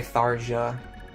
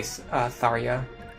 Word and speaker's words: Tharja: Yeah, people say Tharja. At worst, you should say Tharya. Like, it's definitely a ya sound at the end.